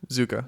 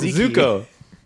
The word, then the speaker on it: Zuko: really good really really good show I always mispronounce it zuku zuka z z no it's not zuka zoku zuk Zuko Zuko wait what was that one zuka zuka